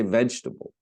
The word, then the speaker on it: vegetable: We say vegetable. We just go from the G to the T. We skip over the E.